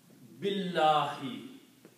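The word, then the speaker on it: بِاللَّهِ: And when you combine these two, you do not pronounce this alif here. B is combined with the lam, so you pronounce billahi.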